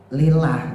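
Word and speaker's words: لله: lillahnya itu ya Pak lillah itu kan ada lamnya nah uniknya lafaz Allah Tu gitu Jadi ketika dimasukin lam malah alifnya yang hilang nah ini yang membedakan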